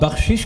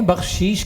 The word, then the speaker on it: بخشش: ہے جی بالکل۔ علاقائی۔ آپ بخشش کہتے ہیں، بخشیش کہتے ہیں، اپنے معمول پہ جو